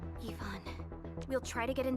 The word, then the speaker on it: Yvonne: So that's how you pronounce it. Like, it's not Yvonne, it's Yvonne. Okay, that's actually easier to say.